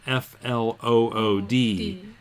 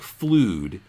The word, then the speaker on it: flood: be a little confused about the spelling is FL ood it looks like flewed but you're right it's not flute it's flood